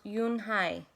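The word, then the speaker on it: Unhei: Kim then turned to Joey she nodded slowly yes it's pronounced eun-hye and it means grace mr.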